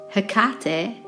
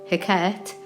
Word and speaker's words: Hecate: Now, I've heard 2 pronunciations for this, Hecate or Hecate, But either way, she